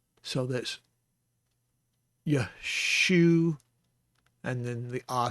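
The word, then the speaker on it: ישוע: Yeshua, Yeshua. And that would be an appropriate spelling for Yeshua.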